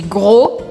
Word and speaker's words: gros: Je suis ronde, sem pronunciar o D no masculino. Je suis rond, je suis ronde. E finalmente, je suis gros, je suis grosse.